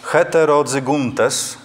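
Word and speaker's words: ἑτεροζυγοῦντες: Ale jak zajrzymy do greki, to mamy tutaj słowo heterozyguntes, tak się to wymawia.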